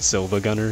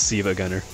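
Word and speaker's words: SiIvaGunner: Siva Gunner yep it's Siva because it's not spelled with an with an actual L it's not Silva Gunner that's something else it's Siva Gunner because it's two eyes just that one of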